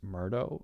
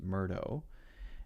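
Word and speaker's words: Murdaugh: a guy named Alex Murdo I think his name is pronounced Murdo and he apparently pretty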